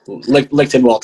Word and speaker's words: Lichtenwaldt: last name nish involved mission vote just kidding linkedin walt is just fine all right uh hardcore legend